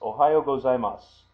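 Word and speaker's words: おはようございます: So that's Ohayo gozaimasu. Now, when you hear that, you don't hear the su on the end as you see written here.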